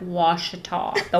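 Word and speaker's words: Ouachita: and they'll say now how do you say the and he's like wash the wash mountains like wash but it does it doesn't have a w so it's very it's OU though yeah yeah yeah so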